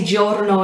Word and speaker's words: giorno: means day um and obviously giorno is gio but you can see how when it's a g followed by two vowels in this sort of this sort of yeah thing it's got that quick um and yeah it's